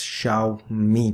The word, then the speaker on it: Xiaomi: all confused trying to pronounce xiaomi that's sh me by the way my